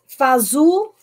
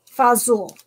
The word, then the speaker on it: fagioli: it to Jet it thanks so much Janet fazool fazool okay you will know you know how to pronounce it um yeah it's amazing but if